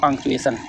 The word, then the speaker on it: punctuation: उच्चारण करते समय हम टी को थोड़ा साइलेंट रखते हैं तो आपका उच्चारण होगा पंक्चुएशन, ठीक है।